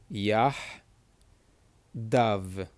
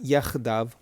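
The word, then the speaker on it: יחדו: This letter over here, which is the het, is another one of those letters that is produced in the back of the throat.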